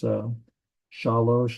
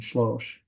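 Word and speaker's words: שלוש: It's shalosh and shlosh. That's it's just slightly pronounced slightly different.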